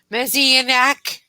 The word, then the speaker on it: messianic: Messianic.